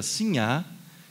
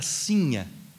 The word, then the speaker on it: Sinha: Sinhá, com acento no final, né? E a mulher do povo, a mulher pobre, era a sinha, com acento, ou seja, na paroxítona, né? Sinha. Então, a Vitória, que vocês